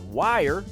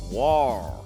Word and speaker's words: wire: It's not wire, it's war.